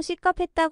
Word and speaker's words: 식겁하다: 문식 돌려서 표현한 것입니다 보통 식겁했다 강한 발음으로 말합니다 기절할 정도로 놀 는